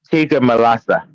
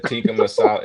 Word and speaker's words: tikka masala: Tikka malasa. Yeah. Tikka masala. It's tikka masala. Something like that. That's how you say it.